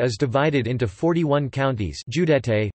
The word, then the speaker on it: județe: Romania is divided into 41 counties, județe, pronounced Judeis, and the municipality of Bucharest.